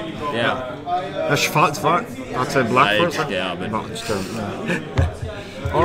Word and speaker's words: Waldsterben: Waldsterben against I'm sorry, how's it pronounced? Waldsterben. Wow. You have to do the voice as well. Waldsterben. Waldsterben. It sounds a lot like just white stabbing.